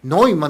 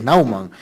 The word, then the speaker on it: Naumann: si mal no recuerdo se dice fundación noan no se dice nean o naan nauman nauman yo decía noan decían otros es nauman bueno la fundación nauman